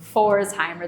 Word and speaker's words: Pforzheimer: And here at FOHO, since it's spelled P-F Pforzheimer, that PF makes the F sound, we like to put PF in front of a lot of things.